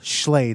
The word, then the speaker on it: Schley: We did do, oh gosh, Bill Schley. That's I'm pronouncing his name correct, right? Bill Slay, yeah.